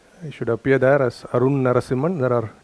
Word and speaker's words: Narasimhan: It should appear there as Arunn Narasimhan. There are 2 N's there, A-R-U-N-N, one of them is silent. Arunn Narasimhan, if you search for, it should come.